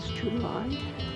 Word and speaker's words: tumuli: So we can see several tumulus, whether that's pronounced tumuli. It is tumuli.